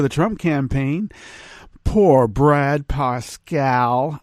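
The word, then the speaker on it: Parscale: trump campaign poor brad pasquale i like to say parscalli i think it really is parscali he doesn't know how to pronounce his own name really come on brad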